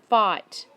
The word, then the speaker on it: fight: let's flip the eye for ight fight that gh is silent fight 400 they all